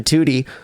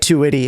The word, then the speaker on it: Tewtiy: Because that's what everyone pronounces it. Yeah, everyone pronounces it like Tewtiy.